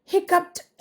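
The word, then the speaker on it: hiccup: പിഇഡി എന്നാണെങ്കിലും ശരിയാണ് ഓക്കേ പക്ഷേ ഉച്ചാരണം ഹിക്കപ്പ് എന്ന് തന്നെയാണ് ട് ഹിക്കപ്പ് okay ഹിക്കപ്പ് ഹിക്കപ്പ് ഹിപ്പ്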